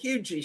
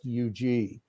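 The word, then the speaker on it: Huger: colombia they call that hugey street yeah yeah yeah okay hugh g street yeah i think they southernize it i think the h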